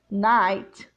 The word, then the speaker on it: night: dear friend of mine G H also silent in words like eight eight eight night very good job of